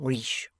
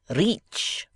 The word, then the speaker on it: rich: "Our English adverbs do not terminate in -mong, and we pronounce the -ch as if there were a -t before it. We say rich." "Reach."